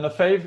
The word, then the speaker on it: Lefebvre: Dan Lefebvre is how you pronounce it?